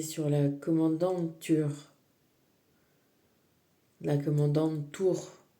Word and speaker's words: Tür: La commandante Tour, ça s'écrit Tur, mais ça se prononce Tour.